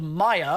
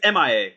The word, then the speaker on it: Mia: She's called Maya, or Maya, I guess, however you pronounce it. It's MIA. It's just MIA.